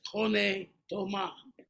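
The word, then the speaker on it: René Thomas: And he would call Rene Thomas. Chet would say to the person very quietly, he'd say, no, it's Rene Thomas.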